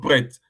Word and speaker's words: prêts: Nous sommes prêts. Prêt is a silent S.